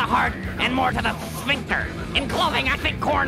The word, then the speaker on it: sphincter: But then you did say sphinxter. Oh, yeah. It's pronounced sphinxter, but it...